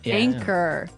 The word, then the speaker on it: anchor: Anchor. Anchor. anchor. Now, it's spelled A N C H O R, right? But you don't pronounce the ch as you normally would, right?